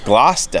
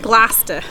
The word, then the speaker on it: Gloucester: Pronounced Gloucester. Gloucester. Yes. Like lobster, but Gloucester.